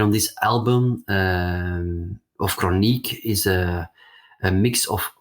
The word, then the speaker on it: Crooniek: a pronounced it sounds more smooth so it's chronic pronounced in in Dutch but it's also uh it